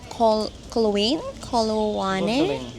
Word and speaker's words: Coloane: Coloane.